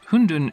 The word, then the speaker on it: hundun: the same written characters hundun is almost the same pronunciation as the Mandarin word for dumplings in soup which of course is